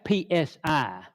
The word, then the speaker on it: psi: That's PSI, pronounced psi. P is being silent.